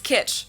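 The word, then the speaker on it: Kitsch: is full of 1950s kitch it means the same thing in German and in English and it's also pronounced the same there's also the English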